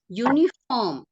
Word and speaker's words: uniform: you have got correct uniform you is it a vvel sound uniform no no no it's not a vvel sound so you want to